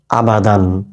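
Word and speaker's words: أبدًا: উচ্চারণ কি হচ্ছে আবাদান। টান দিচ্ছি না, আয় টান দিচ্ছি না, বায় টান দিচ্ছি না।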